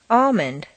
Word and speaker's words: almond: Already, all right, almond.